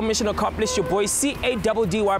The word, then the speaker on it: Caddy: Your boy C-A-D-D-Y pronounced Caddy.